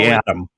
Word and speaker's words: Aadam: But yeah, if you look it up, it's Aadam Jacobs, but it's spelled with two A's. So Adam. A-A-D-A-M, Aadam Jacobs tapes.